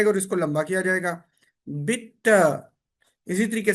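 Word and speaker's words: bitte: फिर क्या करते हैं, इसको बोलते हैं बिट्टे, मिट्टे, डांके। बेसिकली ये प्रोनाउंसिएशन गलत है, ये बनता है बिटा, मिटा, डांका।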